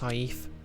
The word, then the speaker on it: saif: Yeah, I think it's actually pronounced saif.